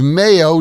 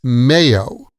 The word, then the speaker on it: mayo: It's mayo. Like the month of May, last month.